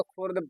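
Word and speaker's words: خرد: ये भी मेरा लिखा हुआ खुर्द पढ़ सकते हो, और इसको भी खुर्द पढ़ सकते हो, लेकिन याद रखिएगा ये खुर्द नहीं होगा, इसका उच्चारण करोगे आप लोग, तलफ्फुज करोगे खिरद, खिरद।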